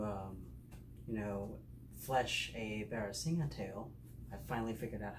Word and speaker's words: barasingha: video how to um you know flesh a barracinga tail i finally figured out how to pronounce that word i just got back from work and so here's the bare singer tale it's been salted already and so now